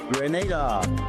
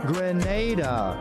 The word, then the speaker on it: Grenada: So today, like we Germans say, we are in Grenada, but I heard in English it's called Grenada. Say it right. Grenada.